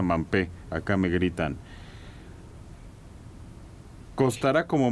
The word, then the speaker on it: Mbappé: Mbappé, que es uno de los jugadores más caros. Mampé, dicen que se pronuncia Mampé, acá me gritan.